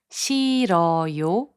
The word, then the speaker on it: 싫어요: The consonant 히응 becomes silent when it is the last consonant of a syllable.